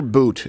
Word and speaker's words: Bout: T-Bone yeah so uh Victor uh is it pronounced Victor boot but even though it's pronounced it's like bout